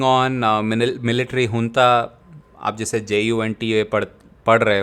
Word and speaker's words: junta: So Myanmar, all of you know there's a civil war going on, military junta, आप जैसे JUNTA पढ़ रहे हो, that's not pronounced as janta, that's the military junta.